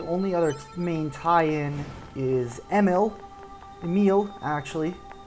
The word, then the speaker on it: Emil: And really the only other main tie-in is Emil, actually. I learned that I was pronouncing the name wrong and apparently forgot about that lesson. To actually pronounce it correctly. Emil is his name.